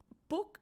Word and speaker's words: Puig: que es Mario Alonso Puig. Sin embargo, el apellido se deletrea P-U-G-I como Puig, pero me parece que es Puig la pronunciación.